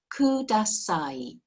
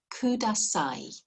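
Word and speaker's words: ください: i have in japanese is this word kudasai kudasai k-u-d-s-a-i kudasai okay okay so just have a go at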